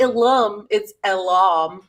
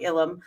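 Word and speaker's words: Ilum: the zabrak colonies of elum or ilam it's not alum it's a different two syllable thing that sounds like illum uh and her her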